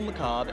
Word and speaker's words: Macabre: criminal uh macabre uh and the r is silent criminal macabre and count crowley or